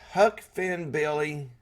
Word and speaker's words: Huck Finn Billy: But it was pointed out, your name is really hard to pronounce. It's Huck Finn Billy.